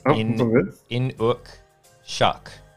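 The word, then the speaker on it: Inukshuk: It's Inuk shuck is how I've been corrected, which is good.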